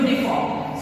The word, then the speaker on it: uniform: Yes, it starts with a vowel, but the pronunciation, the sound comes as U. Y-O-U. Uniform.